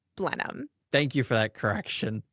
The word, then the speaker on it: Blenheim: We were saying Blenheim, but we were corrected in New Zealand by a New Zealander that it is pronounced Blenheim.